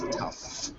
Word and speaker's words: tough: was tough it was tough right t o u g h but it's pronounced like an F it was tough it was tough that's